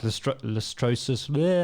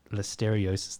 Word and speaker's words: listeriosis: Corona was just like listrosis. I can never pronounce the Poloni disease. Or are people going to like... Listeriosis, that's it.